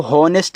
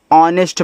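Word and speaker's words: honest: एच ओ एन ई एच टी। देखो इसको होनेस्ट नहीं पढ़ना है। ऑनेस्ट पढ़ना है।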